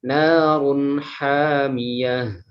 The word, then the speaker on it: نار حامية: Kemudian di ayat ke-11 narun hamiyah. Nah, ini ada idhar halqi ya, dibaca jelas, tidak boleh dibaca dengung.